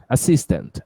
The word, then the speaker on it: assistant: Assistant. Assistant manager. Isso. Cis é a sílaba forte. Assistant.